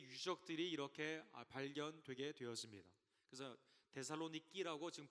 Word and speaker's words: 데살로니키: 세계에 있었던 교회의 유적들이 이렇게 발견되게 되었습니다 그래서 데살로니키 지금 발음을 하는데요 그리스 데살로니키 그 지방에 아 이렇게